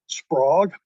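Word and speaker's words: SPROWG: And the acronym is pronounced Sprog.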